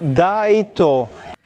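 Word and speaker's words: ライト: E no japonês, por exemplo, light, luz e right, direita ou correto, são pronunciados do mesmo jeito. Daito.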